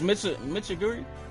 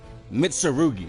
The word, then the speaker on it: Mitsurugi: Isn't the name of one of my blades Mitsuguri?